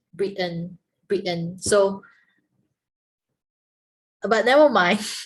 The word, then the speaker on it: Britain: people comes from britain normally we say britain but then the native speaker they break the word into two they break the word into two like brit and britain britain so but never